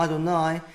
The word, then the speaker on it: Adonai: Petersburg codex we see they read this as ma Adonai not as ma Jehovah so even though in